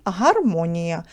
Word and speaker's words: гармонія: в слові і складів нагадую вам з наголосом на другому складі і в цьому слові вісім букв але дев'ять звуків буква я дає два звуки в кінці слова чотири